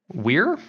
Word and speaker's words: Weir: Mary that's right by Andy Andy warts Weir Weir I how to say it we i r and I read it